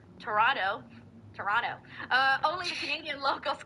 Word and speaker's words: Toronto: No, it's pronounced Toronto. Our literal head of government calls it Toronto.